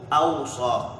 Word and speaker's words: أوصى: Fa'ala, wassa, as opposed to awsa. Awsa is af'ala.